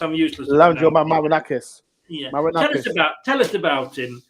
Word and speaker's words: Marinakis: Evangel Marinol, is it pronounced? I'm useless. Evangel Marinakis.